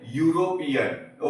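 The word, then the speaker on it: European: पर यहाँ पे क्या है, वो हिंदी का यू है। ठीक है, तो वो हमारा व्यंजन है, वो हमारा कॉन्सोनेंट है, तो इसको हम बोलेंगे यूरोपियन। ओके, तो ये जो यू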